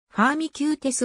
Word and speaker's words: ファーミキューテス: 名に過ぎないファーミキューテスはこれを英語風に発音したものである下位分類